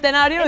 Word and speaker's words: Centenario: Well, we just Centenario. Did I say it right? Centenario is right.